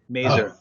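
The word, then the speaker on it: Mazor: We have it's the robot that rhymes with razor. Mazer.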